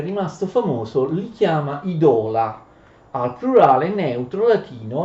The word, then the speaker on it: idola: Quella O è lunga nella penultima sillaba, conoscete il latino e le regole dell'accento in latino. Si produce idola, plurale di idolum, non pronunciate idolum oppure idola.